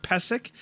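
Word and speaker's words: Pysyk: They brought in 31-year-old defenseman Mark Pesek, and that is how it's said on the NHL media site.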